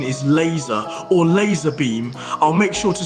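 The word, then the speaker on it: Lazarbeam: is it Lazar beam yeah but it's not pronounced Lazar beam what do you mean it's not pronounced Lazar beam I must have been pronouncing his name wrong this whole time it's pronounced laser beam wait what are you serious it's pronounced laser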